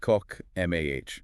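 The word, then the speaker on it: חָכְמָה: This is the great passage on wisdom, or chokmah, pronounced kok, M-A-H.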